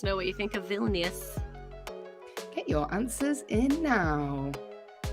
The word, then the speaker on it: Vilnius: here we go next question how do i pronounce this phil n vilnius vilnius v-i-l-n-i-u-s vilnius is the capital of bosnia